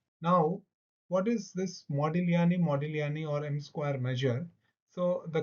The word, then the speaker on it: Modigliani: Now I have just got to know that G should not be pronounced because this is an Italian name. So the best way to say is to put both as modilani modilani major.